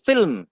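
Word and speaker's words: film: হচ্ছে ফিল্ম এফ আই এল এম তার মানে উচ্চারণটা হচ্ছে ফিল্ম ফিল্ম দেখে এলাম ফিল্ম দেখে এলাম নয় আমরা ভুলটা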